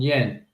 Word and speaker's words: Jan: No, that's Yen. Funny story about this load on Yen.